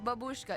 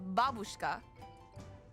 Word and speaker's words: babushka: learned from a friend it's not pronounced babushka it's babushka didn't know that now you know why many when few I don't know a video game.